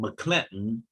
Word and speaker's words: McClinton: Uppercase M, lowercase c, uppercase C, Linton, McClinton Jr. That is certainly the correct pronunciation, but the number of people who came